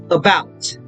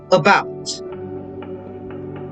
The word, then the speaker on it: about: beginning of the syllable which is why it's pronounced as about again the stress bout so that's how you pronounce it again about now most words class with two syllables are